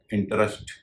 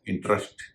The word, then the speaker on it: interest: इसका उच्चारण हो जाएगा इंटरेस्ट अगर और भी स्ट्रेस हो तो बीच के हिस्से में मौजूद ई का उच्चारण नहीं होता है और इसका उच्चारण हो जाता है इंटरेस्ट यानी स्ट्रेस के कारण